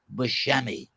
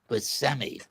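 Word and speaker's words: Buscemi: It's not Bushmi. It's pronounced BMI.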